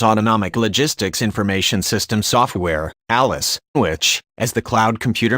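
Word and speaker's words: ALIS: The GAO said ongoing costs for developing the ALICE, pronounced ALICE, aren't fully funded.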